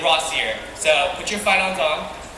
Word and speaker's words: Rossier: Rossier. 2 syllables.